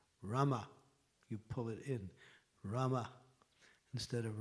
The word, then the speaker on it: Rama: Instead of Rama. So these are very, if you say Rama, you're saying the goddess of fortune. If you say Rama, Rama, then you're mentioning the actual pronunciation is correct.